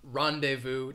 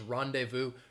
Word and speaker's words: rendezvous: find many words that have a silent z um but this again i think this is a borrowed word from french so you do not hear that z sound uh when somebody says rendezvous right here i've given